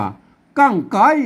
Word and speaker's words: กั้งไก๊: เที่ยว ก็ ไม่ โทร อัน นี้ อ่าน ว่า กั้ง ไก่ นะ ครับ กั้ง ไก่